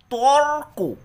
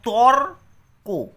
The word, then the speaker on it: তর্ক: এখানে কথাটা রয়েছে তর্ক তর্ক ভালো করে উচ্চারণটা শোনো তর্ক তাহলে রটা কিন্তু ক এর আগে উচ্চারণ হচ্ছে তো যার আগে রটা